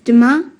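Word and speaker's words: demain: can you say that again please yes it's demar how do you spell that d e m a i n great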